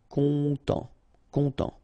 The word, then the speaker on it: content: Content. Final T not pronounced, so N, en as well. Content.